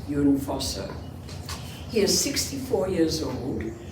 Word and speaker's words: Jon Fosse: It's spelled Jon. The Norwegian is Jon Fosse.